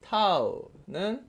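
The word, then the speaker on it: τ: 타우는 RF 이걸 타우라고 읽어요. 타우.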